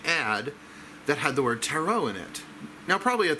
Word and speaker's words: tarot: call the terat because everybody calls at errant but if you're watching this and you're still calling it teret it is taro ta our OT the last T is silent so there it was